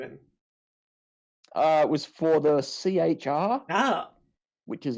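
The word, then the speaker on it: C-HR: It was for the CHR. Which is like a small SUV. Is that you struggling to spell car? Is that what? That's what? Yeah, I'm kidding. I swear to God. It's still pronounced car.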